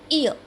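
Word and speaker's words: hour: ईयर. What sound? ईयर. तो यहाँ पर भी एन आएगा, एच हमारा साइलेंट हो जाता है.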